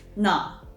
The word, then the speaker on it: 나: So you will read this 나.